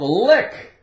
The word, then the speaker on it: lick: How about lick? Lick. L-I-C-K. The C is silent, of course.